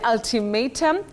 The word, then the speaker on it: ultimatum: That is may, not ma. Ultimatum. Not ultimatum that sometimes some people say.